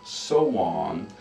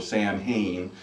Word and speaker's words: Samhain: And um the major festival here was called Soan. It's spelled S A M H A I N. It's spelled as if it were Sam Hayne, but it's actually pronounced so.